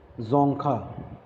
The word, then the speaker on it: Dzongkha: Bhutan, the language is Dzongkha, right? It is spelled like that, Dzonka, Dzongkha.